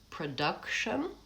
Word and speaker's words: production: Production, I have the stress on the middle syllable, it's lengthened, and this first syllable, that changes to vowel schwa. So I lose my pure vowel because it's reduced to production.